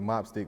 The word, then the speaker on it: Mopstick: pronouncing my stick G mop stick gang is just like how everybody say Chopstick you know what I'm